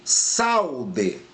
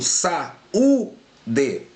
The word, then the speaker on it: saúde: Eu pronuncio saude? Não. Eu pronuncio saúde? Sim. Então aqui o acento tônico está no U, pessoal.